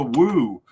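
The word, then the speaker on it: Wooh: third one Christopher Woo I heard his name was pronounced wo by at least one commentator in the last cup. Um, but I'm going to stick with Woo because uh I think that's right, but uh I'm not dead.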